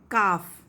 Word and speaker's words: calf: Calf. L is silent.